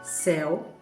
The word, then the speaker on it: céu: Então, céu é com C e com acento agudo. E a letra fica aberta.